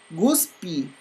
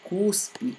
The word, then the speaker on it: cuspe: Guspi, ao invés de cuspe, né?